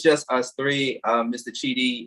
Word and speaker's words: Chidi: we get it right my last name is pronounced chidi c-h-i-d yes okay thank